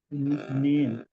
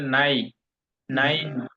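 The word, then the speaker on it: nein: নিন নট নেন বলছি না, ই আই আসলে আই এর মতো উচ্চারণ হবে, এন ই আই, মানে হলো নাই, নাইন, নাইন নাইন।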